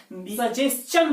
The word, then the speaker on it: suggestion: नहीं पढ़ा जाता है, सजेशन पढ़ा जाता है। आप वजह जान जाइए कि जिस भी वर्ड के अंत में STION होता है उसमें STION का जो प्रोनाउंसिएशन होता है उसको चन पढ़ा जाता है।